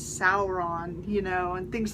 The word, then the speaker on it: Sauron: like Sauron you know a lot of people say s on it's saour on you know and things